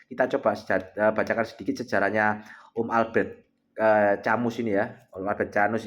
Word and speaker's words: Camus: Bacanya Albert Camus guys ya.